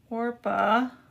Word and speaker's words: Orpah: But I wanted to put in the Bible down here that Orpah, I always spell her name wrong.